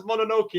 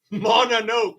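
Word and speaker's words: Mononoke: live and clear Malica you pronounce princess monoki as mon no not monoke as in Coke I just thought I'd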